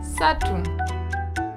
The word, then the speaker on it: ssatu: Ssatu.